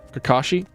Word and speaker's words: Kakashi: So, the the pronunciation guide for Kakashi. Kakashi. Oh, wait. I Kakashi. There we go. Kakashi. The salabal. The empasis is on the second salad.